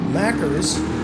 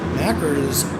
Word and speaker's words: Mackers: about a quarter tank mackers mackers in first place rhymes with knackers and I think those